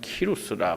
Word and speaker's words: 고레스: 대항 이란 이름이 많은데 이 고레스 라는 말을 그 성경 외에서 발음할 때는 키 루스가 꼬리 키 말하기도 합니다 키루스 쿠 루 스 카 루스 이런 각국에 좀 다른 언어로 이렇게 표현될 때 여러가지 표현이 됩니다 많은 이고 레스 라는